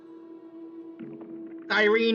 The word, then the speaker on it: Cyrene: Cyrene was always supposed to be pronounced with an E at the end.